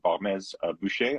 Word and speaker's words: Barmès-Buecher: and our guest is Sophie Barmès of Domaine Barmès-Buecher. I hope I pronounced that correctly.